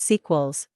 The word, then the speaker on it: S3QEL: They call these molecules site-selective electron leak suppressors, SELs-S3QELs, pronounced sequels, for the complex 3 site, and S1QELs, pronounced cycles, for the complex I site.